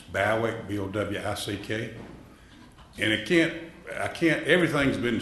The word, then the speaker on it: Bowick: Spell that. It's Bowick, B-O-W-I-C-K.